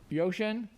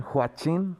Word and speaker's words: Huachin: While we're waiting on Miss Young, we'll call Kevin Yoshin. Kevin, Mr. Yoshin. Please correct my pronunciation. It's Kevin Huachin. Huachin. Like HWA. HWA, Huachin. Huachin.